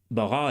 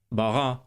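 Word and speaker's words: ברא: Bara Elohim et hashamayim ve'et haaretz. Bara Elohim et hashamayim ve'et haaretz. So again, you can hear the difference in the kametz vowel. Bara versus bara.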